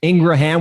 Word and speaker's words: Ingraham: great interview with curtis ingraham i wanna just ingram yeah because i did not know that's how you pronounce the name and yes we confirmed it